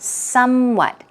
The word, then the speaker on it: somewhat: our patterns we've got some what stress goes on the first syllable as you see somewhat